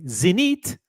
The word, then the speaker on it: Zenith: Zenith, I'll pronounce it the French way, Zenith, doesn't even make that many pieces per year to begin with.